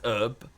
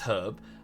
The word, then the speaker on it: herb: They think it's herb, because they're idiots. Obviously, it's herb.